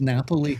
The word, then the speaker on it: Napoli: Is a city in Italy, which is pronounced Napoli.